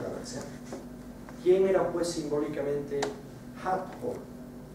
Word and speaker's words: Hathor: Dendera era un lugar que estaba dedicado a la diosa Hathor, o pronunciado en el antiguo egipcio Hat-Hor.